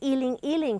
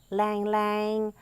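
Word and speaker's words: ylang-ylang: the flowers is the Ealing Ealing flower which you might call lang lang it's pronounced indifferent in from different places in different ways but and the flower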